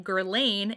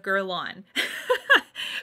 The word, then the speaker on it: Guerlain: Most of them say Lancome instead of Lancome, and a lot of them say Guerlain instead of Guerlain. Okay, both of these are French words.